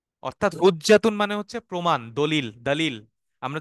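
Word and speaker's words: دليل: আল হুজ্জাতা আলাইহি অর্থাৎ হুজ্জাতুন মানে হচ্ছে প্রমাণ দলিল দলিল আমরা যে বাংলায় দলিল বলি না এই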